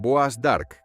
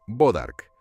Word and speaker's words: bois d'arc: Lo llamaban bois d'arc, que significa madera del arco. Los colonos americanos deformaron la pronunciación hasta convertirla en algo más simple, bodark.